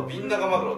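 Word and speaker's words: ビンナガマグロ: Cách phát âm nào đúng, Bin Cho Maguro hay Bin Naga Maguro trong tiếng Nhật? Tên khoa học là Bin Naga Maguro.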